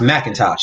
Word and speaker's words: McIntosh: My last name is McIntosh, but my last name is actually not spelled with an A, but it's pronounced Macintosh.